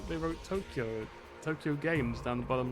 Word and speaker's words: Tokyo: It's actually spelt with that extended sort of "oh" sort of sound. It's actually Tokyo. But obviously, yeah. So it'd actually be written like Toukyoou, like that.